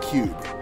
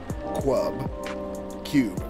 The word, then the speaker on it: Cube: simple by the way he is pronounced Cube not Club Q as in c-u-b-e Cube remember that now